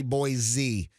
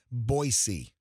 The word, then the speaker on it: Boise: trip to Boise Idaho no no no don't say Boise boisey they're really particular how you say it I'm not I